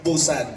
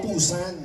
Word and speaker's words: Busan: time ko po sa Busan dito Tama ba pronunciation Busan Oo kasi Lumipad ako pusan Oo talaga Same lang e ' ba yung